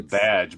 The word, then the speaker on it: Baz: Um, it's it's it's actually badge because Simon Baz actually there it was there was there was an issue where Simon Badge is like Yeah. Simon Baz is like it's pronounced badge and I was like